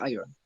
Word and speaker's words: iron: is the other way please remember to say iron so that so that it shall rhyme with with lion advertise advertisers advertisers advertise